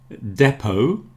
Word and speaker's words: depot: Depot has a silent T.